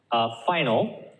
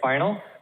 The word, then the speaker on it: final: syllable is stressed so for example final right here final the first syllable stress final final can you hear how 5 is louder than the note again again